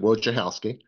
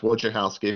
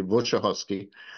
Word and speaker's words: Wojciechowski: My name is Wojciechowski. It's pronounced Wojciechowski. If it was in Polish, it'd be Wojciechowski.